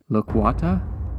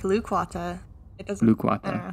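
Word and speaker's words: Lukwata: I pronounced this right loquata that sound good I think it's more like lukewata okay whatever lukewata which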